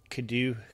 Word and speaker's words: Cadieux: Well, John, on Twitter, they can find me at Kadu. Now, that's how the hell do you spell that?